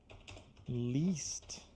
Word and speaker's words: least: What's the pronunciation of this one? List. Least. Ah, tá. Okay. And that's that difference. That's why I always call that that difference between the E and the